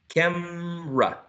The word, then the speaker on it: camera: exactly Nursery two syllables the next one can be pronounced using two syllables or three how's that camera camera three camera camera exactly cam camera camra camera TOS camera would be with three right um the first one